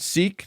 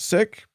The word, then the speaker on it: Sikh: So if members of that community have asked you to pronounce it Sikh, not sick, by all means, yeah.